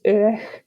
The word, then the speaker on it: Aodh: Uistin, and Uistin's father is Uich. Yeah. Is that the one that's spelled AODH?